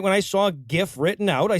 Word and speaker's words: GIF: It's pronounced fucking GIF, right? I am not saying both sides have equal claim to the pronunciation here. The majority of people say GIF, and outside of proper nouns, pronunciation is determined by the majority.